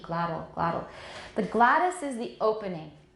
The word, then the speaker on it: glottal: Okay, I say glottal, not glottal. Everyone, glottal. Glottal. 那个 T 是个 tap, 像个很短的 D, glottal.